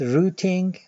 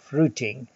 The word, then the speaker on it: routing: This lecture covers Chapter 10 in the textbook, entitled Routing on a 2D Mesh or Torus. I pronounce this word routing. Others may use routing. They're the same thing.